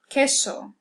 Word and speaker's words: queso: Next we have Q, which is always accompanied by U, as in ¿qué? ¿Qué pasa? Queso. It always makes that K sound. We'll never pronounce qua, as in queen. It'll always just be K.